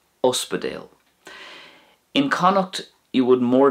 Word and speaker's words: ospidéal: So once again, in Munster, Uspedale; in Connacht, it's going to be Aspigal; and in Ulster, Oherlin.